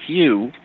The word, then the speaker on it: HU: You can chant the word hue which is pronounced um like hue is in the color hue.